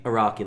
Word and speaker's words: Araki: How do you pronounce his name? Yoshikage Kira, No, like the author. the author, Hirohiko Araki. Araki, that's it.